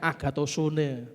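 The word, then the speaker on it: ἀγαθωσύνη: Bahasa Gerikanya agatosun. Tulisannya agatosune, tapi bacanya agatosun.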